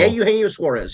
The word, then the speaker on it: Eugenio Suarez: Eugenio Suarez.